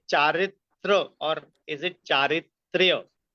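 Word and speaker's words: चरित्र: Uh firstly the pronunciation is chitra. Charitra. Huh. It's not a Y but R A. Charitra.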